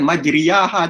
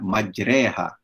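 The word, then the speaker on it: مجراها: Ah lihat one paparan kita tengok ejaan banyak dia majreha jimat bukan sebutannya bukan majidiyah ajar atau materi aha bukan sebutannya adalah majreha bismilahi majreha wa mursaha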